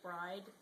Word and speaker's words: Brighidh: I will usually say bride, but that's just because that's the Scottish pronunciation.